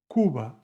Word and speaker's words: Cuba: 9, Cuba, suena como casa.